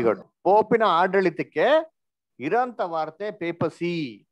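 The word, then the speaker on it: papacy: ಪೋಪಿನ ಆಡಳಿತಕ್ಕೆ ಇರಂತ ವಾರ್ತೆ ಪೇಪಸಿ ಅಂತ ಆಕ್ಚುಲಿ ಪೋಪಸಿ ಅಂತ ಬರ್ತದೆ ಅದನ್ನ ಉಚ್ಚಾರಣೆ ಮಾಡಕ್ಕೆ ಪೇಪಸಿ ಅಂತ ಹೇಳಿದ್ರೆ ಇದನ್ನ ನಾನೇನು ಹೆಸರಿಡಕ್ ಹೋಗಿಲ್ಲ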